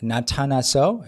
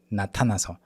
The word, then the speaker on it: 나타나서: And then the Korean nian, even though it's romanized with the alphabet N, even though it's like romanized in that way, it's different. You have to put your tongue between your upper and lower teeth, like na.